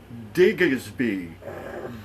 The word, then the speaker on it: Diggersby: And the name of the card is Diggersby.